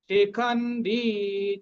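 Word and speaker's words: শিখণ্ডী: পড়বো পরমেশছাস কাশচ পরমেশছাস শিখন্ডি চহারহ শিখন্ডি শিখন্ডি খ এর পরে কি আছে দুটো অক্ষর হাফন পূর্ণ ট তার সাথে দীর্ঘকার দীর্ঘ উচ্চারণ হবে শিখন্ডিটা দীর্ঘ শিখন্ডিচ মহারথহটা দীর্ঘ হবে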